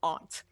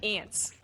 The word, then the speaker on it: aunt: it's a fact okay that it should be pronounced aunt but people all say ants and I'm like well if that's spelled like